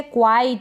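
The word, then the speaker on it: quite: Next है क्वाइट।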